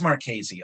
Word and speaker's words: Marchese: archaisie marquis it is marchese okay it's the italian ch which is you have